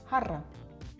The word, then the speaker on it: jarra: You have to roll your R there. Practice with me. Jarra, jarra. You're a cat purring. Purr, jarra.